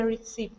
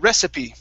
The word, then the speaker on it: recipe: Jill finished reading the reip okay now that last word is pronounced rece uh recipe uh recipe mhm okay one more